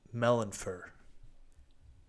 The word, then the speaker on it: Melinfir: his eyes pancakes you've done it i am melon fur you want me to spell that for you yes please i got melanin